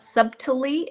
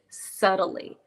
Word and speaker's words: subtly: in the middle of the word we don't pronounce it subtly subtly so it's not subtly it's subtly subtly um which means in in like a